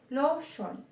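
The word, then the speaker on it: 로션: Then, pag yung lotion naman, kinonvert nyo sa Korean, kapag yung lotion naman, kinonvert nyo sa Korean, magiging lotion. Lotion. Diba? L naman yung pronunciation niya.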